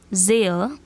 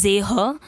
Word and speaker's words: sehe: Ich sehe, du siehst. H is silent, so don't pronounce it as sehe, it's sehe.